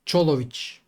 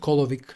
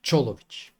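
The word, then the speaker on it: Čolović: For the record, it's Cholovich, not Kolovic. Not Kolovich. Cholovich.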